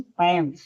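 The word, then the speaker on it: palm: पी ए एल एम पम यहां ए क्या है? साइलेंट है।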